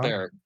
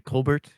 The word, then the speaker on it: Colbert: Colbert. Why is his name pronounced Colbert and not Colbert? Because he's French Canadian.